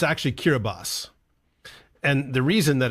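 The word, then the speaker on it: Kiribati: you think think that's cbati but it's actually kirbas and the reason that it's that is because that TI at the end they took the French pronunciation of that and that's their orthography my old enem is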